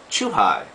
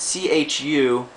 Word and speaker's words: chuhai: Our next one is what we call chuhai. Chuhai. And you'll see it's spelled C-H-U-H-I, which looks like it would be chu-hi, but it's actually chuhai as in a highball.